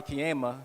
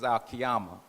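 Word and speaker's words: Al-Qiyamah: brother in the nation, I didn't know how to pronounce it properly. So I said, "Oh, that's Ka." And that sounds like a good name for a girl, a baby girl. So I we named our daughter Kiama not knowing that the actual pronunciation was aliyama.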